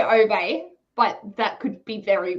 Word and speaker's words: Ove: The letter O is pronounced oo, as in ooh la la, and the E at the end is a soft E. So it's ooh. It is Uwe. Uwe.